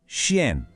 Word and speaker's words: chien: O segredo aqui é o som nasal no final. Aquele som que parece que sai um pouquinho pelo nariz, sabe? Vamos tentar? Le chien. Mais uma vez, le chien.